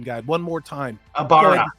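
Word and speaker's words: Aybara: And again, Rand al'Thor, Matt Cawthon, Perrin Abiara, and go ahead and tell me I need to look at the pronunciation guide one more time. Abara.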